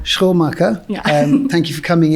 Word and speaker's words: Schoenmaker: Schoenmaker. Schoenmaker.